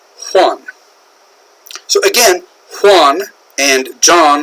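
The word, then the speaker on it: Juan: how that's pronounced either in Spanish the J sounds like an H so this is actually pronounced one so again one and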